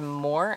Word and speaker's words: Moher: call it belief until it's pronounced closer to more I'm just probably still not getting that right um we're so we're